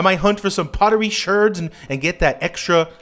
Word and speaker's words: sherds: can get from it why people call them shirs because that's how it's spelled is it spelled like that in the game yeah oh I know that yeah that's why I say it it feels bad for me to say I'd rather say Shard I don't Shir sounds